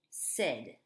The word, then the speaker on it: said: And also in the past, I said, you said, he said, etc.